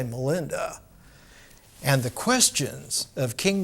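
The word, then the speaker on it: Milinda: In the ancient language of Ceylon, in Pali, Menander is pronounced Melinda. Pali is Sanskrit with a southern accent. We all can't say Menander, but we can say Melinda.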